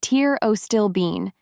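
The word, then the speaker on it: pterostilbene: Terostilben, pronounced tier o stillban, is resveratrol's much more powerful cousin.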